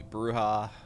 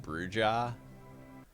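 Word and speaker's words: Brujah: I'll do blood and dust seed will be bruha. I used to game with a guy uh who I played a lot of Vampire the Masquerade with and he always pronounced it bruja even though he knew it was pronounc supposed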